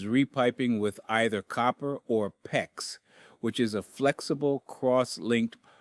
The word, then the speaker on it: PEX: with either copper or PEX, which is a flexible cross-linked polyethylene tubing. PEX is spelled PEX and it rhymes with flex.